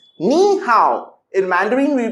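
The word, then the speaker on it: 你好: we spell hi hello and in mandarin we pronounce ni hao in mandarin we pronounce nihao let's speak with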